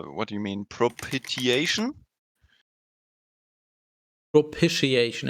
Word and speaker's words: propitiation: do you mean propitiation propitiation is apparently the pronunciation yeah the act of